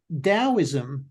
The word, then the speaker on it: Taoism: Now, that is spelt Taoism, the Tao, Tao, but it's spelt, the T is pronounced with a D. And so Taoism is something that I've studied in great detail.